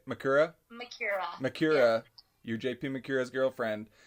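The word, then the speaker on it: Macura: Makura.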